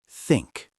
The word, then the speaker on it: think: Think. Pronounced think. Voiceless TH.